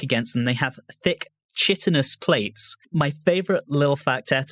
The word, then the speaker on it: chitinous: They have thick, chitinous plates. My favorite little factet about that, which I think is hilarious, was pronounced wrong. It's actually chitinous.